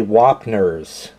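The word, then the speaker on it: Wapner's: Oh, and I realized that I mispronounced that. It's actually Wapners.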